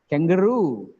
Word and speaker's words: kangaroo: means the last syllable stress not second last syllable stress questionnaire questionnaire employee i am an employee e is first guarantee kangaroo kangaroo bamboo bamboo the last celebrity stress engineer